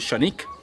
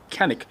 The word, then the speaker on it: Canik: both are called the shanique one is a p120 and the other is the tp9 elite combat sometimes mispronounced as canik and i was very politely corrected on that pronunciation by my turkish friends we've got the original